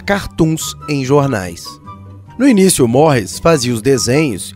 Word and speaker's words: Maurice: Se pronuncia dando uma esticada no S do fim, terminando numa espécie de E fechado, né, quase não pronunciado. Fica assim, Maurice, Maurice, entenderam?